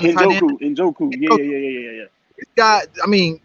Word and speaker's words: Njoku: I can't pronounce his last name. The tight end. Njoku.